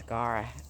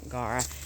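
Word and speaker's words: Gaura: favorite then we have guara you know I think it is Gara rhymes with Laura Gara and so this is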